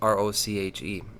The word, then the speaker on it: Roche: I caught in this article that Roche, Roche, I don't know how you say it, it's Roche.